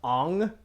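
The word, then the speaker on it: Aang: horrible the kids face the aung not ang by the way yeah with the round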